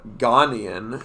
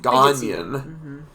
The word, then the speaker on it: Ghanaian: essays they're thankful that we said ghanian instead of Ghanaian uh apparently a lot of people pronounce it the second way but uh they have